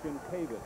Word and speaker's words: Shinkovic: Tim Shinkovic, they changed the pronunciation of the name out. This is the correct one. They want Shinkovic, and that's what we'll give them. Shinkovic has been the pronunciation all season. I don't know why changed before the state tournament.